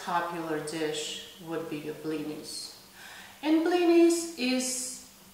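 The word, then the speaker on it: блины: You make blinis, you go to people, they make blinis, and everybody's just eating blinis all week long. And the correct pronunciation of this word is actually not blinis. It's blini. Blini.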